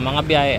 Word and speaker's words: Mambajao: gin laaban mahinog at mah ang pronunciation mah at hindi mamb J sa Bisaya ay silent or letter H Okay so that's